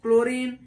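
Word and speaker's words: chlorine: देखेंगे अगला सी सी एओ आर आई यानी क्लोरीन टी सी के टेक ये सारे शब्द यानी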